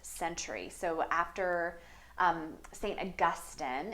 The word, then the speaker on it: Augustine: so after um St Augustine is how you pronounce that name as opposed to Augustine but St Augustine develops